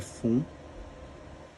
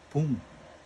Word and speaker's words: 分: é Fun, a pronúncia, ou ele também pode ser pronunciado Pum, tá? E como é que você vai definir isso? Quando os minutos, pessoal, terminarem em 2, 5, 7 ou 9, você pronuncia Fun, tá? Por isso aqui é Go Fun. E quando terminarem em 0, 1, 3, 4, 6 e 8, você pronuncia Pum, ok?